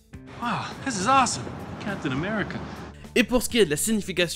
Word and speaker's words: America: Le premier et dernier A se prononce E.